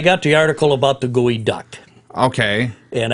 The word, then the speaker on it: geoduck: but anyway I got the article about the gooey duck okay and it's pronounced gooey okay duck okay even though it's